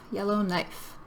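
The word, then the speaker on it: Yellowknife: Yellow, like the color, knife, like in the kitchen, cutting with a knife. Yellow knife.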